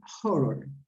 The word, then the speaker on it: horror: uh that is horror remember in english you pronounce the h write horror horror film okay the next